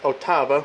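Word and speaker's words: ottava: it'll be written 8va it's officially pronounced as aute Abba which is Italian for octave or 8 8 baba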